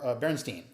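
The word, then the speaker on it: Bernstein: a film film composer uh elmer berenstein uh no he wasn't related to leonard and yes he pronounced it that way uh they get that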